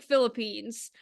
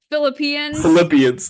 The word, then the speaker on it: Philippians: I want to say like it looks like Philippines. Philippians. Okay. That Philippines. wasn't as bad as it could have been. Wait, how do you say it? Philippians. Philippians. Yeah. So that sounds like Philip, Yeah.